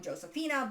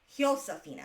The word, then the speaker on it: Josefina: what I was calling Josefina, but and you think I should know this, my husband does speak conversational Spanish. It's Josefina, because J in Spanish is pronounced as an H.